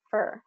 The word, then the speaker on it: for: So just be listening for that for when native English speakers say it. Most likely they're going to say fur in a sentence, fur.